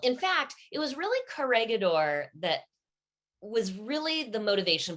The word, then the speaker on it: Corregidor: Is it Corregidor Island? I want to make sure I get the Corregidor.